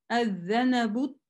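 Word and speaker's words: الذَّنَبُ: Ад-занабу тауилу. Мы видим, уже мы удваиваем. При начинании фатха все равно остается, но лям не читается и удваивается следующее. При продолжении хамза не читается. Лям не читается, удвоение читается.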